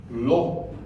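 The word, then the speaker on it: לא: right hand side okay so this L has got the aid makes the sound L and the is O Okay and the is silent so the word LW means not law means not okay in fact in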